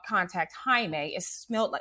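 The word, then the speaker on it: Jaime: When they decided to call contact Himeme, it smelt spelled like Jamie.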